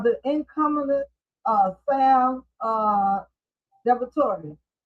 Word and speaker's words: DiVittorio: You have the incumbent uh Sam uh Deviator.